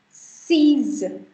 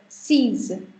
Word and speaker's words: six: Then six is called seize. Z ka sound aata hai isme. It's called seize.